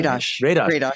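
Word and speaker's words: Radosh: You're going to be talking with historian Ron Radash. Is that how you pronounce the name? I'm sorry. Radash.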